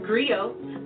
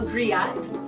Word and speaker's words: griot: It's pronounced griot, or in English, a griot.